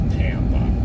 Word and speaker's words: Pampa: How does it Is it pronounced Tampa as in Pampa? It is Pampa.